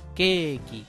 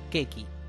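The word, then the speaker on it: ケーキ: el sonido que entonces tengo que pronunciar keeki en lugar de quequi si lo mismo pasa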